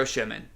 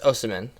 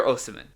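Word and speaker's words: Osimhen: gotta go get and i'm gonna say his last name wrong victor o'shiman uh it's definitely wrong michael is that right no you're it's like i think it's osimin osaman victor osiman i think you just pick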